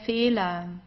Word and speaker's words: Fehler: Der Fehler, der Fehler. So you see, it's just pronounced like an A.